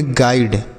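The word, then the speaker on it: guide: तो उम्मीद करता हूँ आपको ये चीज़ समझ में आया होगा कि यहाँ पर आई का उच्चारण आई क्यों हो रहा है, क्योंकि आई के बाद एक अक्षर छोड़ने के बाद ई लिखा है, ऐसा अगर रहेगा तो, ठीक है बच्चों।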